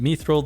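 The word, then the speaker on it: mithril: that are equivalent to methil but do bonus damage against electrical creatures and yes I pronounce it mithil that's how it's pronounced in Lord of the Rings so I'm just going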